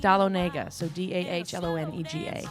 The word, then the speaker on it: Dahlonega: you spell that for Dahlonega like Dahl Onaga so da HL ome